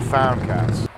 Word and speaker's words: Foundcats: So now that we found Jesus and we're not lost anymore, but found, and it rhymes with hound, we're now called the Foundcats.